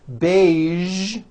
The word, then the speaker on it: beige: casual television very good now there are only a few words that have the voiced sound at the end a few of these words are the color beige the word massage and the word prestige Shh okay now that